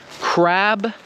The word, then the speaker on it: crab: that i'm pronouncing that if you speak a language where you softened the endings of your words then you probably pronounce these words the same way and you probably pronounce them crap and crap as opposed to the correct english pronunciation of crab and crap do you see how